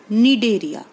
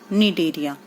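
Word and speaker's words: Cnidaria: देखो, फाइलम सीलनट्रेटा और निडेरिया। देखो, निडेरिया है ना, निडेरिया, उसके अंदर जो सी है वो साइलेंट होता है।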